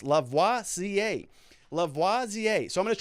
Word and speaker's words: Lavoisier: Also, the handle is pronounced Lavoisier, as in the famous chemist, Lavoisier.